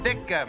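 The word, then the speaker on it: Ditka: for a certain coach dicka excuse me Wrigley Field pronounced dicka my friend the occasional heart attack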